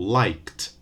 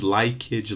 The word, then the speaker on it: liked: A typical mispronunciation by Brazilian learners is to add an extra syllable and say things like wipeage, likeage, laughage, and so on. No extra vowel, no extra syllable for the verbs in the first column, okay? Just a t at the end.